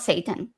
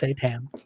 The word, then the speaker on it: seitan: The That's food, what not Satan. Seitan. that's what Google said. Okay. It's Seitan.